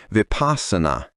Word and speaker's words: Vipassana: The mindfulness meditation I've done has been within a particular school of meditation known as Vipassana, pronounced Vipassana. Vipassana is an ancient word that denotes clear vision and is usually translated as insight.